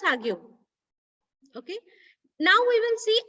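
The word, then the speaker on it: The Hague: come on yes it's it's pronounced as Hau okay now we will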